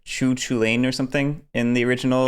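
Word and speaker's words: Cú Chulainn: entirely true though because isn't like kukulen actually pronounced like choo choo lane or something in the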